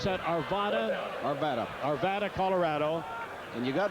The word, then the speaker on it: Arvada: Do I pronounce that Arvada? Arvada.